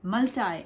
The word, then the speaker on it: multi: ऐसे ही एक और वर्ड होता है मल्टाई, MULTI, मल्टाई. सो लाइक वी से मल्टाई. और हम इंडिया में कैसे बोलते हैं? मल्टी vitamin. हम लोग ऐसे बोलते हैं ना, मल्टीपर्पज, मल्टी वाइटामिन.